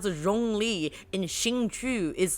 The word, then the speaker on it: Xingqiu: Yeah, how would you pronounce his name? I just did, Xingqiu. Xingqiu, okay, good.